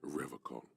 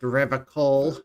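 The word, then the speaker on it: Revachol: He pronounces Revacol with a hard K, unlike other people.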